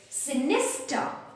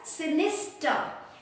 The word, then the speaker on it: sinister: we pronounce it so we will not pronounce the the r sound which is coming at the end right sinister and what